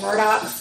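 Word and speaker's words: Murdaugh: the news of these they call them the murdock but they're not spelled the murdochs just by the way it's spelled murdered and the father is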